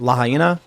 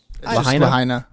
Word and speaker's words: Lahaina: town of, do you guys know how to pronounce this properly? I want to make sure, is it Lahaina? Lahaina.